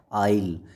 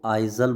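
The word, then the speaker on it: aisle: क्या बोला जाता है, आइल। इसकी प्रोनाउंसिएशन आपने सही रखनी है, कई बच्चे इसको आइजल बोलते हैं, आइजल नहीं है ये, आइल है।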